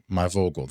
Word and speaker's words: My Vogel: We have the fantastic Amanda Myogal. My Vogal. That was I had to phonetically spell that out so that I would say it correctly.